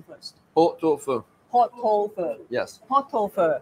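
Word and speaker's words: pot-au-feu: 波多夫。波多夫。 Yes. 波多夫。 Po means pot. So po in French we say pot. 即係 pot 啦，我哋 hot pot 個 pot 啦。Oh, it's two and fur is fire.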